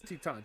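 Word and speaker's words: Titán: But still, it's not how you pronounce it. It's Titan.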